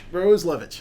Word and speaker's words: Roslewicz: So first thing, what is the proper pronunciation of your name? Perfect. It's called. No, the other one. Oh, Roslewicz. Roslewicz.